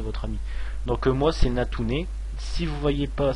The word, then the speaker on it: Natouner: Donc moi, c'est Natune. Si vous voyez pas, ça se prononce N-A-T-O-U-N-E-R.